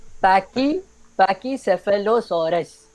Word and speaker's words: Pachycephalosaurus: shitting through the name or he's like real, like the real pronunciation. So it's Pachycephalosaurus.